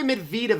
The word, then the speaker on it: Medvedev: how do we say Medvedev up because this is pronounced so differently I know that it's mid vltava right the emphasis is on the second syllable right emphasis on the